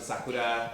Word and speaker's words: sakura: I love the sakura. Oof. That's how they say it in Japan. That's how they say cherry blossoms. Sakura. Yeah, but every year I go to the cherry blossoms in Salem.